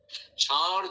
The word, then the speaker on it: ষাঁড়: রেখে দিয়েছি ষণ্ড থেকে ষাঁড়। ষাঁড় যে আমরা উচ্চারণ করি, এটা তালব্য উচ্চারণ করি, আমরা মূর্ধন্য উচ্চারণ করতে পারি না।